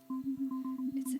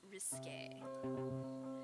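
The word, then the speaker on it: risqué: your idea of risky risky actually pronounced risque well my heart is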